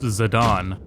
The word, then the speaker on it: Zidane: I'm sorry to inform us all that it's pronounced Zidane.